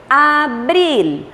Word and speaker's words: abril: Vejam, abril. Por que abril? Porque o L tem som. Na língua portuguesa o L não tem som. E na língua espanhola nós vamos pronunciar sempre o som do L.